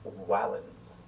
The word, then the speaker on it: valens: Sometimes it was a vowel, like in Julius, but sometimes it was a consonant, like in the word valens, which means strong, although the Romans would have pronounced it closer to wallens.